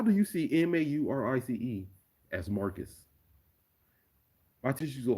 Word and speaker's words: Maurice: mispronounce my wreaths but my teachers will get my name wrong they'll hear my they'll see my name m-a-u-r-i-c-e and they'll say marcus how how does how do you see m-a-u-r-i-c-e as marcus my tissues